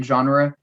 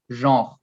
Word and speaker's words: genre: of film yeah uh so obviously in english you'd say genre in french again we make it shorter and with the so in french you would only say jean i see quite different